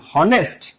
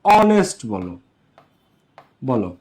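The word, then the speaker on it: honest: ম্যান অনেস্ট ম্যান এখন এটারে আমরা কি বলি হনেস্ট বল এটারে কি তোমরা হনেস্ট বল নাকি অনেস্ট বল এটারে কি কেউ এই দুনিয়াতে হনেস্ট ম্যান বলে হনেস্ট ম্যান না অনেস্ট ম্যান এটাকে কেউ নেস্ট বলে না।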